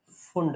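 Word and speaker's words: Pfund: ' P' silent है, फंड series.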